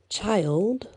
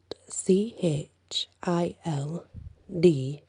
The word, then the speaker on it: Childe: i have never heard it's called child roland and it's spelled c h i l d e child interesting child roland and